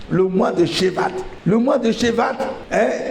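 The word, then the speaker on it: Shevat: Le mois de Chevat qui est le 11e mois du calendrier hébraïque. Le mois de Chev qui s'écrit S h e v a t. Le mois de Chevat.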